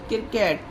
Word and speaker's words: क्रिकेट: का वर्ड है गाइस इसे सी आर आई सी के ई टी लिखते हैं सी आर आई का क्री हो गया के ई के ई टी का किट हो गया और सी यहां पर साइलेंट रहता इसे ऐसे ही पढ़ा जाएगा।